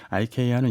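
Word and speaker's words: IKEA: 저도 좀 알아봤는데요. 네. 방송용이니까 네. 이케아가 맞더라고요. 네. 이케아가 정확한 발음이고 아이케아는 이제 영국이나 미국에서 네. 약간 좀 뭐 영국식 영어 할 때 쓰는 발음이라고 하던데 예. 정확하게 이케아가 정확한 표현이라고 합니다.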